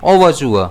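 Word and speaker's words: overture: इसे हम प्रोनाउंस कैसे करेंगे? ओवरचुआ। इसमें स्ट्रेस जो है पहले वाले ऐ पर रहेगा।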